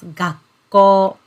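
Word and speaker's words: 学校: so it should be school yes and we pronounce this word as gakko okay and the next one yes big and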